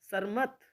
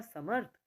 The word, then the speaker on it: समर्थ: हैं ग के ऊपर सरमत सरमत तो इसको सही हम ऐसे ही बोलेंगे सरमत लेकिन स सही होगा समर्थ तो थ से पहले उच्चारण हो रहा है म के बाद और लग रहा है वो थ पर पूर्ण जन्म सही होगा